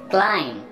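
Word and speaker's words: climb: क्लाइम, क्लाइम का मतलब है ऊपर चढ़ना, और इसमें भी बी साइलेंट है, आपने बी को प्रोनाउंस नहीं करना है, क्लाइम ऊपर चढ़ना।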